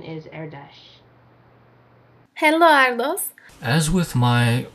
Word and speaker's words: Erdos: Now, obviously that's not correct technically because it is a Hungarian name and that is not the Hungarian way to pronounce it.